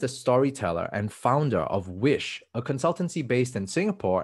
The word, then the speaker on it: WYSH: the founder and storyteller of wish now which is spelled as w-y-s-h what exactly is w-i-s-h